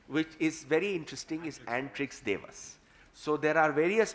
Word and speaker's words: Antrix: It was an agreement between Antrix, which we now pronounce as Antrix, but it actually is Antrix, as in space. But everybody, even the gentleman, the CMD of Antrix says Antrix, so we're saying Antrix.